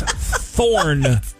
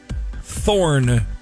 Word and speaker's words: Thorn: It's Thorn. Thorn. Thorne? Yes. Thorn. Like on a bush?